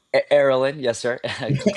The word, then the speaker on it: Erolin: Did I pronounce it right? Erolin, yes, sir. Close enough. Erolin, yeah, my bad.